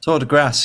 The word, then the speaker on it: Tour de Grace: Tour de Grace, yeah. I mean, think Tour de France, but grass.